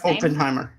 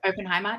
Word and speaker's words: Oppenheimer: Is that how you pronounce that man's name? Oppenheimer. Yep. Oppenheimer.